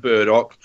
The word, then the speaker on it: Burdock: to like Dandelion and Burdock purely because it rhymes with Murdoch and he was the best one out of the 18.